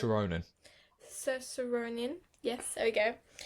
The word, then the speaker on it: Saoirse: Saoirse Ronan. Saoirse Ronan.